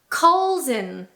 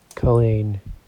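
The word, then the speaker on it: Culzean: Colleen. Colleen. Colleen. Colleen. You guys are, am I being trolled? Okay, so once again, we're pretending that the Z does not exist.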